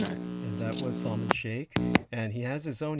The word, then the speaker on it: Sheikh: Look up in the dictionary how to spell Sheikh, and that will be Sheikh. And you actually pronounce it as Sheikh, not Chic, like CHIC, the fashion statement, as well.